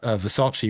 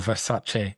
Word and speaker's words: Versace: can see that uh Versace or Versace as I meant to pronounce it still struggle now into our third year working with Versace.